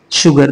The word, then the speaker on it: sugar: तो मैंगो तो है ही, उसके साथ था 1 कप ऑफ शुगर। देखिए शुगर है, ये प्रोनाउंसिएशन जो होता है इसका, ये श की तरह होता है, एस की तरह, मैंने इसको ऑब्जर्व किया है।